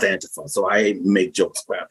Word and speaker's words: Antifa: online saying that Antifa, it's pronounced Antifa, so I make jokes